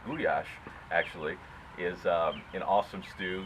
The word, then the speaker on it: gulyás: The real Hungarian goulash is pronounced gulyás, actually, is an awesome stew.